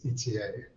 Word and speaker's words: Ethier: Yeah, so as an American, I would say Ethier, but I believe correct pronunciation is ETA, as you said.